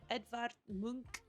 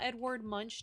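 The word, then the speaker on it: Edvard Munch: is going to be The Scream painting by edar Mo and yes that is how it is pronounced I had to look up the exact pronunciation because somehow Edward Munch just didn't sound right anyway here is the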